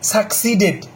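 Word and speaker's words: succeed: আর সাকসেসের verb যারা জানেন না আজকে থেকে শিখে নেন, SUCCESSED, সাকসিডেড, এটা হচ্ছে ভার্ব। সাকসিড, সাকসিড, উচ্চারণটা সাকসিড, SUCCESSED, সাকসিড, ঠিক আছে?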